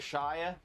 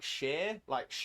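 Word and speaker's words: -shire: to say our counties, because we have shire on the end, it's like the Shire in The Hobbit and Lord of the Rings. It seems like it would be pronounced Shire, but it's not. It's pronounced. It's more like sheer tights.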